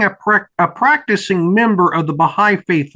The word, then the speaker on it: Baha'i: Did I pronounce the name of your religion correctly? Yes, sir. It's the Baha'i faith.